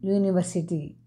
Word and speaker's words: university: It is university. Number 9. Do you have uniform? Dear friends, although university uniform start with vowel U, it is pronounced as a consonant sound U.